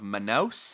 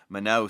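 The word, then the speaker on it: Manaus: this was the the port of manous I believe that's how you pronounce it m n a u s manow so they record a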